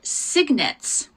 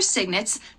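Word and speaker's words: cygnets: with her babies now the babies are called signets that's kind of an interesting name for babies isn't it so I'll spell that for you too that's c y n g TS so the babies are signets the mama is also called a pen and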